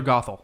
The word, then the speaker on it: Gothel: Is that how you Gothel, pronounce it? Mother Gothel.